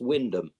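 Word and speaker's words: Wymondham: another place that's spelled why mundum but it's pronounced Windom and that is a very norol thing mate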